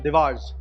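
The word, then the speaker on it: Dewar's: Okay, next we have दिवार्स या doors. इसका right pronunciation वैसे डूअर्स है, बट आप इसको जैसे ही बुलाना चाहें बुला सकते हैं, बट यस, आप इसको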